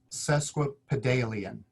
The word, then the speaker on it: sesquipedalian: how to pronounce it so the word is pronounced sesquipedalian you might have said something similar to that